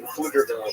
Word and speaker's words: Pflugerville: Well, I have 2 roommates in Pflugerville, so I got a little bit of a drive. Ooh, boy, oh boy. Yeah. How far is that? The P is silent.